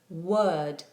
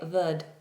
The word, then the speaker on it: word: Now, I know a lot of my students before they had um, tutoring with me would say ver. Can I have a V? And they were doing this V sound. This is wrong. Word starts with a W. Therefore, it is rounded off.